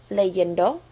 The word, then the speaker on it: leyendo: So with leer, it's pronounced leyendo, and with caer, cayendo.